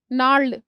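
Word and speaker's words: gnarled: नाल्ड, इसमें जी साइलेंट है।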